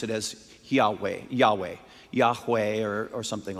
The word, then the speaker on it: Yahweh: as it's called but you and I would pronounce it as Yahweh Yahweh Yahweh or or something like that the